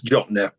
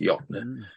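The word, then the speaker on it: Jöttnar: Jattenar. Nar. It's Jotner, pronounced Jotner.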